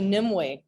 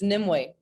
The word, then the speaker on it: Nimue: It's actually it looks like Nim it's actually Nimue. We look like Nimue, but it's a Cornish name. So, of course they they pronounce things a little differently, but it's Nimue.